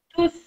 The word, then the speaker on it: tous: Et puis souvent, au masculin, on va le prononcer le S.